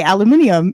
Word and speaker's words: aluminium: will not well no like my British friends say aluminium even that makes sense British people are taught proper English and they pronounce things differently no one in American